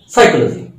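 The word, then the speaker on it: psychology: যেমন সাইকোলজি, সাইকোলজি পি এস ওয়াই সি এইচ ও এল ও জি ওয়াই, সাইকোলজি, দেখো পি এর উচ্চারণ নাই, সুনামি, তাই ওইখানে কিন্তু টি এর উচ্চারণ নাই, তোমরা জানো তো, নিশ্চয়ই জানো।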